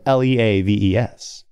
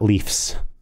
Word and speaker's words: leaves: It's spelled L-E-A-V-E-S. It's not leafs. It's leaves. Yeah, you got it right, bro.